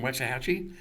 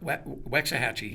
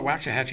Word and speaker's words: Waxahachie: amazing town and where Waxahachie Waxahachie I call her watch a Hatchy once and then they laughed at me and then I heard the proper way to say is that like in